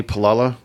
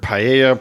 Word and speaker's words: Paolella: Yeah, so I'm Paolella. Is that how you say it? Yeah. Yeah, I've heard Paella, but it's Paolella. When I read it Paella.